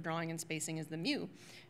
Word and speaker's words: mu: and spacing as the MU which I think in Greek is pronounced me actually but I can't seem